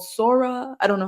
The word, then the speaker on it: Sora: So my question to y'all is OpenAI recently released, I think it's called Sora. I don't know how you would pronounce it, Sora or something like that. Sora, yeah.